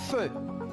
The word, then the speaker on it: feu: On a E, U, ça se prononce E, por lo tanto digo un feu.